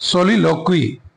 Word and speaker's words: soliloquy: what is monologue and सॉली लॉग क्वी that is pronounced सलील क्वी तो सलील क्वी क्या